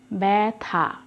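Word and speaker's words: ব্যথা: এরকম উচ্চারণটা আসবে দেখো উদাহরণ বয় জ ফালা শুরুতেই কিন্তু জ ফালা উচ্চারণ করে দেখো ব্যাথা এরকম উচ্চারণ হচ্ছে তাহলে এই আদ্য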